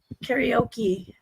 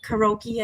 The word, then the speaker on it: karaoke: Jeremy what's your favorite so I was told one time the right way to say it was karaoke but karoki I think is how a lot of people say what's your favorite song